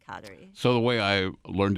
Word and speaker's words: Kateri: Mohawk Community it's cuddly but we usually say katari so the way I learned in a cab